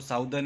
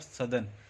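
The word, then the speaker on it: southern: इसको साउदर्न या नॉर्दर्न ऐसे नहीं पढ़ा जाता है, इसको नर्दर्न और सदर्न इस तरह से प्रोनाउंस किया जाता है हेमिस्फीयर्स।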